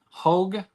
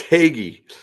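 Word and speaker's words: Hoege: to Welcome to the channel here H hog is that how you say your last name you know it's haggy it is spelled exactly the way you just pronounced it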